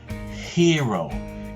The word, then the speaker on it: hero: okay repeat after me hero can you notice that sound that i put at the beginning hero okay um i